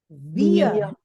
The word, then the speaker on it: wir: Then WIR, this is pronounced as weir. Weir. Weir. Weir. Weir. Ear sound also has to come.